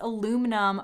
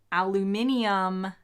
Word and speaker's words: aluminium: do you say aluminum i say it like an american says aluminum but i think it's spelled differently in the uk so aluminium is what brits say and i say aluminum